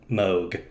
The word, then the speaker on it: Moog: you know the the company that makes synthesizers m-o-o-g you know yes do you know how they pronounce it isn't it moog yes it's mo